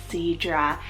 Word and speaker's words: Sidra: we have the gorgeous name Sidra spell s-i-d-r-a Seadra this is stunning it's a Latin Hebrew and